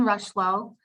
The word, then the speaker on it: Rocheleau: my name is rushlow i put it phonetically in the on my name on the little chat box just because sometimes it's kind of hard to pronounce that last name um but you everyone